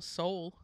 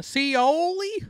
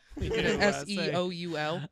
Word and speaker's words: Seoul: I've always thought, it's like, why are it's not spelled the way Seoul, South Korea is spelled. Yeah, because Americans wouldn't weird. Have understood. Yeah, Americans would have been the Seoli.